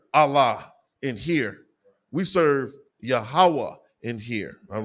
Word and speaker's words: Yahweh: the tetragramaton okay and phonetically that is the sounding of the most high power's name yahawa okay not Yahweh not uh whatever people are calling him it's Blasphemous to even put a different name on the most high